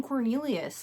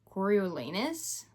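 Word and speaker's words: Coriolanus: His name it is pronounced I always just want to call him Cornelius.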